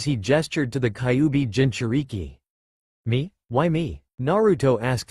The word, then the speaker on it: Jinchuriki: You said something about Jintoki, or something. It's pronounced Jinchuriki.